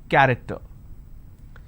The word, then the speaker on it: character: each nation its present character so you see the word character i have the letter c h and it's pronounced as cur i don't say character i say it character one last passage for